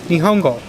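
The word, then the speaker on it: 日本語: This word right here, this word right here, and this word right here are all pronounced Nihongo.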